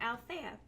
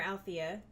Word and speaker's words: Althea: So speaking of beer, this week's beer is Weyerbacher Althea, or Althea, however you want to pronounce it.